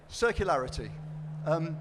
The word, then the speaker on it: circularity: me now oh yes circularity rhymes with hilarity but I can assure